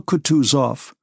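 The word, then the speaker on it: Kutuzov: General Coutus off, said Boonsky, speaking French and stressing the last syllable of the general's name like a Frenchman has been pleased to take me as an aid to camp.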